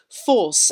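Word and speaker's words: Forse: turns inland to thurso force f-o-r-s-e names are bound up here the spelling reflecting the british pronunciation of the letter o as or this still survives in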